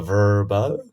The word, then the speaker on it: Vrbo: I usually drag out the R. It's more of a Vrbo.